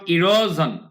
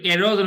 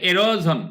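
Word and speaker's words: erosion: সোয়েল আচ্ছা সয়েল মাটিকে রক্ষা করে কোত্থেকে ফ্রম ইরোজন ইরোজন মানে কি সরি এরোজন উচ্চারণটা হবে এরোজন এরোজন মানে কি এরোজন মানে হচ্ছে এরোজন মানে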